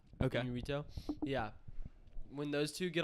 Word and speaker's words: Iñárritu: And directed by Alejandro Iñárritu. Yes. I don't know if I'm pronouncing that You did. correctly or not. Okay. Iñárritu.